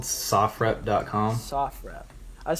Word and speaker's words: SOFREP: Sofrep. I was saying And Sofrep. Yeah, it's all right. So SOF is Special Operations Forces, Okay. and then REP is short for report.